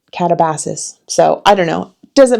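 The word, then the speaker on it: Katabasis: Um I call it Catabasis and not Catabasis because I actually heard RF Kuang giving a talk about this book and she pronounced it catabassis.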